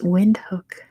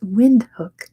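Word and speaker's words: Windhoek: Ayub the answer is wind hook wind corner it's off the cons apparently windhook probably not how you pronounce it at all but that's how you pronounce it in American English it is with number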